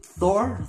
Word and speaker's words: Thor: in other countries odin thor thor i think it's tour tour in denmark um so we basically